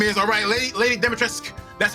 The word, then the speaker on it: Lady Dimitrescu: I THOUGHT IT WAS GOING TO BE LADY DIMITRESCU. YOU KNOW, YOU KNOW WHAT HER NAME IS, LADY DIMITRESCU. THAT IS HOW IT IS PRONOUNCED, SO EVERYBODY SAY IT. LADY DIMITRESCU.